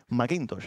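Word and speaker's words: McIntosh: edward macintosh y superimportante macintosh es la pronunciación correcta que significa que el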